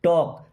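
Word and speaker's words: talk: दो मी मीस मुझे टॉक टलक नहीं पढ़ते टॉक यहां प एल साइलेंट होगा टॉक एल नहीं है टक नहीं है टॉक लेट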